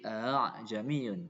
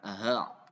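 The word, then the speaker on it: أَعْجَمِيٌّ: Tashil itu antara alif dan hamzah, bukan antara alif dan ha ya. Jadi a'jamiyun, bukan aha, tapi a'jamiyun, a'jamiyun.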